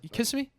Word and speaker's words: Kissimmee: You You had it if you put the first and the second one together. Kissimmee. There you go. Kissimmee?